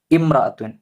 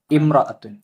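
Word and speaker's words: امرأة: പക്ഷേ സിഫത്ത് വ്യത്യാസമുണ്ട് 15 ഇമ്രത്തുൻ എന്ന പദം വായിക്കുമ്പോൾ അലിഫിന്റെ ശരിയായ ഉച്ചാരണം ഏതാണ് ഓപ്ഷൻ ഡി ഇമ്രത്തുൻ ഇവിടെ കസർ ആണ് ഇമ്രത്തുൻ 16 താഴെ കൊടുത്തവയിൽ ജമാഅത്ത്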